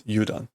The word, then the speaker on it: udon: Okay, that is not udon. Or is it udon? It's udon.